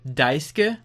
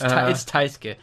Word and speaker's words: Taisuke: Another thing in the last episode, I kept accidentally calling Taisuke Daisuke. And you kept correcting it, and I kept saying it wrong. It's Taisuke. But ironically enough, do you know what the voice actor of Makoto's name is?